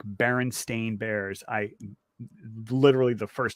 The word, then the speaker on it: Berenstain: Yeah, no, but I mean, but the last name is usually spelled like Bernstein, like the composer. Oh, okay. Conductor, it's Bernstein, but it's Stain, and that's very unusual, and like that's the Mandela part.